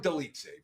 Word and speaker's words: Dolidze: Roman Dolidze versus Anthony Smith. We've got Dolidze, and I think I'm pronouncing his name right, but I could be completely off.